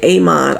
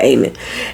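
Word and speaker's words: Aemond: up there I know I say Aman all the time cuz it's got a D on M but they just pronounce it aan Aon is standing up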